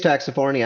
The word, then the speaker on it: Taxifornia: Did I pronounce that? Yes, it is Taxifornia.